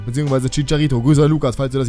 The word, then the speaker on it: Chicharito: karabek dann hazard Alonso riberi lesco obermeyang und chicherito bzw chicharito Grüße Lukas falls du das jemals sehen wolltest